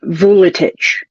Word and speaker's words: Vuletic: My son is half Serbian, and his last name is Veletic. Mm-hmm. But you pronounce it Vuletic.